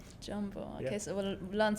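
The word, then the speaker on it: jambo: Hi, Jumbo. Jumbo.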